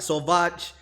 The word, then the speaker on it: sauvage: savage that means what it's definitely not savage with the way you did pronounce uh when you described it but yeah you think my french is not that great but so vaj means savage yeah cuisine is food